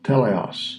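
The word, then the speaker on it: τέλειος: Telios. Telios. How do you say it? Strong's G 5046. Teleos.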